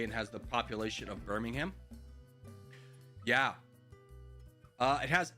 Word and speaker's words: Birmingham: The H in Birmingham is silent. So Birmingham is how you say it?